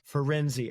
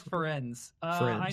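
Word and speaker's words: Firenze: How do you pronounce the name of this centaur? Ferenzi.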